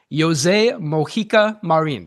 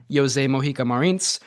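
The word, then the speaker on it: José Mojica Marins: This is the director, coowwriter, and star of At Midnight I'll Take Your Soul, Jose Moika Marin is apparently how you pronounce it.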